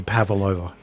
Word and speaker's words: pavlova: Zealand after her yep it sounds Australian and it's actually pavalova it's cuz pavalova doesn't sound like a doesn't sound like a Russian name but pavalova is a